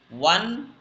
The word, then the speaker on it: one: She has dash one one hide cat.